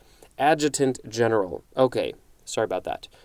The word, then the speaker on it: adjutant: have this word before a jutent general i think i'm pronouncing that correctly or no no no it's adjutant general this the the the emphasis on the syllable was in the wrong place adjutant general okay sorry about